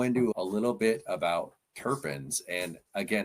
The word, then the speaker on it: terpene: I I pronounce the the the long e, the tarpen.